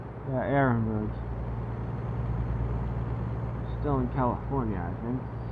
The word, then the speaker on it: Ehrenberg: The H is silent, I think. Yeah, Ehrenberg.